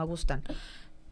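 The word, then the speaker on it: Augustine: O no, Agustín, creo que se se pronuncia francés, ¿no? Agustán.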